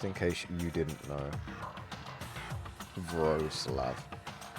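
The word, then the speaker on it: Wrocław: Rogclaw is pronounced like Wroclaw. What? Just in case you didn't know. Gross love. Gross love.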